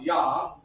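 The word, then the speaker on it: יה: And oftentimes God's name is abbreviated this way throughout the Hebrew text, and it's pronounced Yah.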